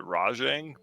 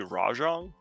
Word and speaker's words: Rajang: get a furious uh i pronounce it rajang but it might be rajong uh it so based